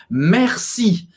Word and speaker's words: merci: e presta atenção porque um erro muito comum de pronúncia nesta palavra é falar Merci como se tivesse um acento circunflexo não no e não